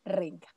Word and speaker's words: Renga: El kanji, entonces la pronunciación del kanji, de la escritura, del ladrillo en japonés se dice Renga.